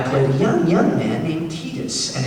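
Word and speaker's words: Tidus: And I played a young man named Titus, and it is pronounced Titus, not Titus, but I will let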